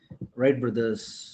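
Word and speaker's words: Wright: ಬ್ರದರ್ಸ್ ಅಂತ ಹೇಳಿ ಕರೀತಾರೆ ಈ ಪದನ ಉಚ್ಚಾರಣೆ ಮಾಡಬೇಕಾದರೆ ಡಬ್ಲ್ಯೂ ಸೈಲೆಂಟ್ ಆಗುತ್ತೆ ಸ್ನೇಹಿತರೆ ಇದನ್ನ ಉಚ್ಚಾರಣೆ ಮಾಡಂಗಿಲ್ಲ ನೀವು ರೈಟ್ ಬ್ರದರ್ಸ್ ಅಂತ ಹೇಳಿ ಹೇಳಬೇಕು ಡಬ್ಲ್ಯೂ ಮತ್ತೆ ಆರ್ ಒಟ್ಟಿಗೆ ಬಂದಾಗ ಯಾವಾಗ್ಲೂ ಜ್ಞಾಪಕ ಇಟ್ಟುಕೊಳ್ಳಿ ಡಬ್ಲ್ಯೂ ನ ಉಚ್ಚಾರಣೆ ಮಾಡಂಗಿಲ್ಲ ಸೊ ರೈಟ್ ಬ್ರದರ್ಸ್ just like wrong ಅಂತೀವಲ್ಲ ಆ ತರ ರೈಟ್ ಬ್ರದರ್ಸ್ ಆಯ್ತಾ ಜ್ಞಾಪಕ ಇಟ್ಟುಕೊಳ್ಳಿ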